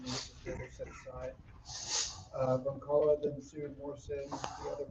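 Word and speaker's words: Brzonkala: In 1994, Christy Broncala, the Z is silent. Broncala, a student at Virginia Tech, alleged that she was raped by 2 football players.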